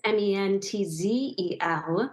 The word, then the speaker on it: Mentzel: and it's Mentzel.